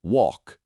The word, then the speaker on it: walk: And then there's the L in words like walk or talk. It's not walk or talk. It's walk and talk. The L is silent.